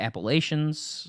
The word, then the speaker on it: Appalachian: Some people say Appalachians, but I'm from New York. We say Appalachian, right? That's the proper way to say Appalachian. But everybody else in the country says Appalachian or something like that.